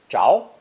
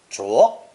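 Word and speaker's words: 着: With its grass radical on top, this character split into 4 common pronunciations: 猪, zháo, zhuó, and unstressed zhe, all of which retain the basic sense of wood catching fire and the act of stoking the flames.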